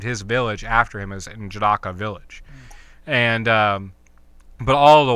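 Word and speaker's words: N'Jadaka: It's like N apostrophe Jadaka, Njadaka. Okay. And Jindaka?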